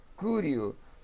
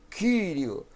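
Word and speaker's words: κυρίου: Tem alguns irmãos que pronunciam como u, né? Tem irmãos que dizem curio, mas eu prefiro como o i grego mesmo, como um u tremado, como do alemão ou do francês, kyrio.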